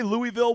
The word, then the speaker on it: Louisville: L okay if you if you try to say Louisville with vals you're saying it wrong it's w okay and they are playing